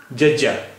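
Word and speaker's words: ਜੱਜਾ: भाषा का 13वां अक्षर जज्जा जज्जा इसका उच्चारण हिंदी के ज जैसा है आइए इस से बनने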